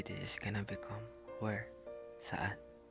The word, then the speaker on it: saan: also use sun but it's s a a n sun Saan? Just get the sa from the think of an like a then mix there. Saan? You can say it right.